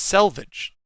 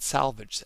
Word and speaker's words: selvage: same thing and salvage the salvage edge it's selvage s-e-l not salvaged s-a-l i didn't know that